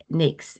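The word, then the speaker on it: NAICS: And NAKES is pronounced Nate. NAKES.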